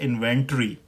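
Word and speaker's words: inventory: तो जो British pronunciation है इस वर्ड की वो है इन्वेंट्री।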